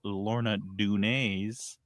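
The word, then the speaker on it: Lorna Doone: With a big chunk of caramel inside and covered in milk chocolate and then crushed Lorna Dun.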